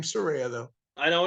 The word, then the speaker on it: Saraya: her Paige but well she her actual name Saraya though I know it's saranite I know I